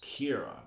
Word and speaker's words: Ciara: I do believe she's Irish, and her name is pronounced Kira, but it's spelled Ciara.